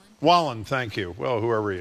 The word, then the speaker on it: Wallen: Is that how you pronounce this country singer? Poking fun at the Kiss. How do you say his name? Wallen, thank you.